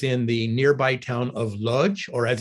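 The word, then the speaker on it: Łódź: the nearby town of Lodge or as it's pronounced in Polish the capital L would have a slash through it and would be pronounced Woods um they were neighbors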